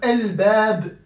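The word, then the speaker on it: الباب: L-b, la lettre lunaire c'est le bab. Donc L-bab, L-bab. Vous voyez? Donc j'ai prononcé l'article défini entièrement.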